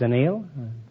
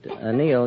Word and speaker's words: anneal: It's annealed. It's an eel? I thought it was a television tube. No, it's anneal. A-N-N-E-A-L.